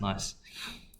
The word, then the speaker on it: gneiss: I think it's actually pronounced nice.